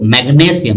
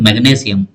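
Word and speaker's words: magnesium: এম এফ এবার দেখো ম্যাগনেসিয়াম এখানে উচ্চারণটা মানে ধরো এটা কার সংকেত ম্যাগনেসিয়াম স্ট্রেসটা কার উপর পড়ছে গো গ এর উপর এজন্য দেখো ম্যাগনেসিয়াম আর যদি বলি ম্যাঙ্গানিজ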